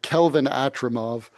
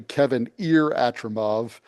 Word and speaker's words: Kevin Atramov: Kelvin Atramov, who is one of the nobles. His name is actually Kevin Atramov.